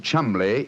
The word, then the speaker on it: Cholmondeley: Being an American, he had no reason to know that the name Chumley is in no way pronounced the way it is spelt.